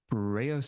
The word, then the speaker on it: Breunor: Knights like Sir Agravain or Sir Breunor's sons pity. Yep. Yep, pronunciation was was flawless there.